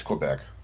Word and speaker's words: Québec: and settled in québec Quebec how do you pronounce it it's Quebec Quebec there we go in Canada and later